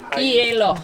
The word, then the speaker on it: hielo: Hielo. Hielo. The H is silent, but it's like two vowel sounds at the beginning.